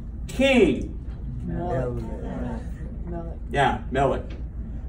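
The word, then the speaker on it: מֶלֶךְ: But see, that Shabba is also what? Silent. That Shabba is silent. And how about, so there's two syllables, right? Two syllables. How about blessed? Baruch. And now the Shabba at the end of that is silent. But it connects those two, so it's only two syllables.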